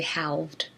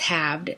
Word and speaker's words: halved: We don't say halved. It's halved.